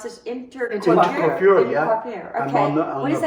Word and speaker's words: Intercoiffure: And then, obviously, you're a member of YPO, WPO, and just active in numerous, I want to make sure I pronounce this, Intercoiffure, yeah.